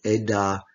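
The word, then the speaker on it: עד: Edah, moed, those similar letters.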